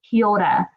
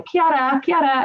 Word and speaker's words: kia ora: Kia ora, and it's kind of hard to say because you've got to roll your R's. But if you're like my mum, you can say kia ora, and that's still fine.